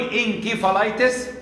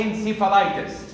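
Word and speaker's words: encephalitis: يعني حرف السين موجود عندنا ممكن تنطق سي او كي، الاثنين صح. لا غير الانجلش، الانجلش لازم فيها وقت تنطق سي او تنطق كي. في اللغه اللاتينيه عادي نقرا الاثنين مفيش مشكله عندنا. فلو نطق انكيفالايتس صح او انسيفالايتس برضه صح عندنا.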